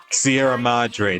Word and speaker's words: Sierra Madre: the Sierra Madre Casino iserra that's that's how you pronounce it thank you a place